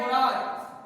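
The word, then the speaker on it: monarch: उसी प्रकार से मोनार्क, और मोनार्क का मतलब होता है सम्राट। यहाँ भी CH का उच्चारण क्या? मोनार्क, क अंत में आया।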